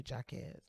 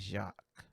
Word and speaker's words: Jacques: gonna assume it's probably jacquez berman webster ii because not too many of us are running around here pronouncing that actually as it should be which is jacques french anyway when i ran